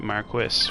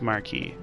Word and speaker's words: Marquis: I'm saying that weird because I'm trying to say it like the game says it, Marquis, which is not correct. It's, you know, it's Marquis. The game the English localizers got it wrong.